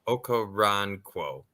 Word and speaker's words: Okoronkwo: Okoronkwo. It's not Crow, it's Quo. Ron, like Ron Burgundy. Yeah. And then KWO, so Ron Quo. Okoronkwo.